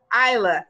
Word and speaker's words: Isla: how to pronounce it just think i la isla thank you perfect all